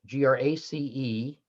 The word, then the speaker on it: grease: And then grace, G-R-A-C-E, and Grease, G-R-E-A-S-E, both were pronounced grace, and they provided a lot of fun for Dromio of Syracuse in Comedy of Errors.